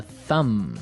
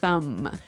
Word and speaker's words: thumb: Do you say the B at the end of this word? No, I actually only pronounce the M, the Yes.